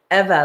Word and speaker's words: Eva: say your name and she's like eva like forever and i have never